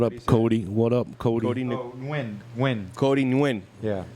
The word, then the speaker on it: Nguyen: Cody Nguyen. Yeah. Nguyen. Yeah. It's like Illinois. Yeah. It's silent.